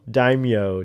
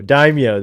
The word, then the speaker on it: daimyo: say it right anyway dymo dimo what is it di how do you say the like what he is the crime boss this uh oh daimyo daimyo that's what it is but uh yeah i